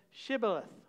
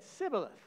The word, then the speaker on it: shibboleth: said no they said to him then say shibboleth and he said sybileth for he could not pronounce the pronounce it right then they seized